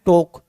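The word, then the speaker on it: talk: और वहां पर है टोक टी एल के एल साइलेंट रहे गए टी ओ के बोले गए टोक तो देखो टी ओ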